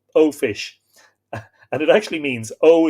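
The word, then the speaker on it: eó fis: same old fish oh fish e-o-f-i-s in irish is o fish and it actually means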